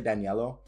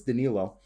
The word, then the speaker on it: Danilo: say that correctly danilognari i used to say daniello because i actually have a family friend in italy whose name is spelled exactly the same he goes by daniello but it's danilo danilo galinari you know he's looking